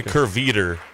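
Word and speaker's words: Kehrwieder: It's probably Kerweider. Okay. Yeah. Because the W is pronounced with a V. Like windows?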